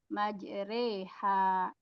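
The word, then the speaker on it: مجراها: Jadi yang di tulisannya harusnya majroha dibacanya majroha menjadi majreha.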